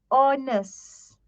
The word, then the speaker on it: honest: say ho we don't say harness no hate is silent so we say honest or same goes with the word our we